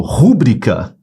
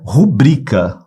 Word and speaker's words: rubrica: bem se você falou rúbrica você pronunciou errado a pronúncia dessa palavra não é rúbrica essa palavra não é proparoxítona a pronúncia é rubrica ó separei as sílabas sílaba forte é o bri rubrica rubrica Essa é